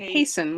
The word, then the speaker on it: hasten: and gives as an example um, haste, hasty, and hasten where we do have an unpronounced T in the word hast.